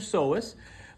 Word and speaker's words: psoas: That means this one next to it is the so with a silent P. Got it? That's your SOS.